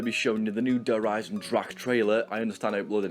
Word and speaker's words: Eisendrache: Dempsey actually stated it's called Eisendrache. I hope I pronounced that right, I'm doing my absolute best, but yeah, we've learned something new straight away, basically. It's not actually Eisendrache, it's Eisendrache. So the first main thing